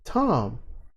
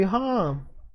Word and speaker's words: Thom: The H is half silent. It's Tom. The T could be half silent. It could be Hom. It's not.